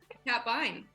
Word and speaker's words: Kat Bein: you can find me kat vine that's my name and uh yeah cad vine catbine that's right yeah rhymes with fine lines yeah you you were